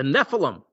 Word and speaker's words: Nephilim: is Not verse four the Nephilim that's how you say it I believe the Nephilim were on